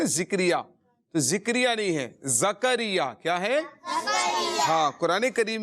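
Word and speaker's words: زکریا: ویسے زکریہ ہے، زکریہ، زا کے اوپر جو ہے زبر ہے، زکریہ، یہ اس کا درست تلفظ ہے۔ ذکریہ بعض اوقات لوگ پڑھتے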